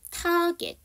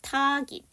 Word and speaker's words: target: 1번 타겟, 2번 타깃, 2번이 맞습니다. GET로 끝나는 단어도요. 이 사운드가 에 발음이 아니라 이 발음입니다.